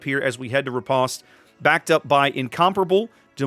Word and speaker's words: Riposte: Riposte. Riposte. You got to roll your R's like a proper, what is that?